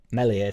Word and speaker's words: Meslier: turns out that um melier silent s meslier silent s is the best Keeper